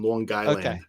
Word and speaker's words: Long Island: in there Long Island well if you want to spell it phonetically it's lawn like lawn moow LA and then guyand gu y l n long guyand that's what the guy